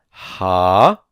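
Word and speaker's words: הארץ: Ha-a-retz. Ha-a-retz. This is three vowels. Kametz, kametz, segol.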